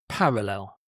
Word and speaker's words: parallel: Parallel. So stress on the first syllable, parallel.